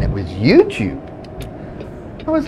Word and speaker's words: YouTube: at and he said it's the way you pronounce he was saying it was YouTube I was like YouTube Don I always bought it with you tubby I've been calling it you Toby for years watching it I was saying to